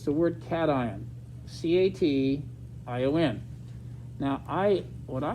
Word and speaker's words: cation: to pronounce that word if they've never had chemistry they'll say passion like vacation but if you've been in chemistry they'll say cation get that all right